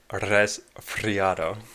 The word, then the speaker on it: Resfriado: Every time Resfriado resubs, I have to say his name the right way, which is rolling the R's, but I'm always embarrassed about doing it. But, so thank you for resubbing Resfriado.